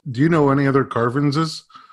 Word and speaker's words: Carvens: And I believe my name was supposed to be Kevin, but the way you pronounce Kevin in Haitian Creole is Carvens.